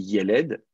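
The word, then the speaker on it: יֶלֶד: disais, vous avez aussi yeled, qui est donc l'enfant, alors je vais mettre l'accent ici, il est accentué sur la première syllabe.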